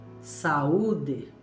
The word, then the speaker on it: saúde: Outra palavrinha com a vogal U, com acento agudo, seria saúde.